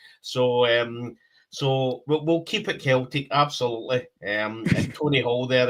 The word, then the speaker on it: Celtic: So what I would say, Floyd, is, so I'm assuming he's putting up keep it Celtic, but yeah, hard C.